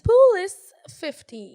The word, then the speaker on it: POUL15: Et comment ça se dit, ça se prononce comment, POUL avec un S 15? Poulis 15.